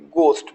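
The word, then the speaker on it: ghost: वाई च weather राइट घोस्ट या H letter को साइलेंट रखा है तो घोस्ट नहीं बोलना है घोस्ट बोलना है घोस्ट मीस क्या होता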